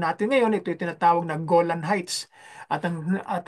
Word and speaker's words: Golan: ngayon ito'y tinatawag na golan heights at ang at ang pagka Pronounce pronounce ng mga mga Dios diyan o ng mga israeli ay gulan ay ganyan ang kanilang pagka pagkabanggit diyan ay nasakop ng mga